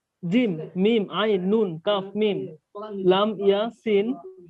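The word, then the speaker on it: ق: জিম নুন আইন নুন কফ মিম লাম ইয়া সিন হ্যাঁ এটা কফ না তো ভাই, এটা কাফ। কাফ কাফ এটা উচ্চারণ কি খাফ হবে? খাফ খয়ের মতো খাফ না, খাফ না, কাফ কাফ।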